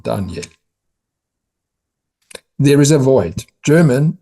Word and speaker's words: Daniel: name of the son, whom everyone pronounces in French, Daniel. Surprisingly not, but mother calls him Daniel in English, and surprisingly not in German, Daniel.